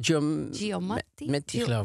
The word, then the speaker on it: Giamatti: Hoe spreek je het uit? Paul Giamatti.